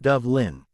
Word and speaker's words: Dublain: Me name B Dublain pronounced Dove Lin.